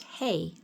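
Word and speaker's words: Hei: He did that by adding the Hebrew letter, spelled H-E-I, pronounced Hey, to both names.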